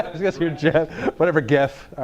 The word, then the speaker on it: GIF: talked about could be gifts could be memes gif is the pronunciation how come everybody says it's not Jeff you shut your mouth it's gift all right let's not start